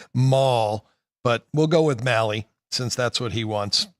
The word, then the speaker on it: Mahle: Mahle, is that how you pronounce his name? Yeah, Taylor Mahle.